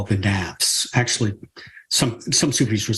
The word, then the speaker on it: nafs: what they call the Naps actually some some superheres would say every layer is the mass but in this way of looking at it and it's spelled navs nafs okay it's actually nuts it's actually I think